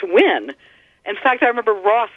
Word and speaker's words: Nguyen: ng u y en that one fascinates because it's so counterintuitive to our spelling and pronunciation it's pronounced when but I think most people when they first see that word if they're not you know knowing the the Vietnamese say Nguyen or knew Glen you know there's it's